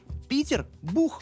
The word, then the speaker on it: Питербург: А в начале 18 века он писался, да и произносился через «и», а оканчивался на «х». Питербург.